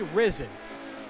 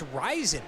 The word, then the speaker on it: Ryzen: correct me i always say risen but i think it's rising right is it amd ryzen which i'm not a big fan of but what do i know but yeah i think i've been pronouncing it wrong all along which is